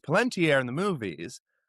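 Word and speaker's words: Palantír: and it's pronounced palentier in the movies, but it's spelled Palunteer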